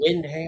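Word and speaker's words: Wyndham: Windham. Like Windham Resorts.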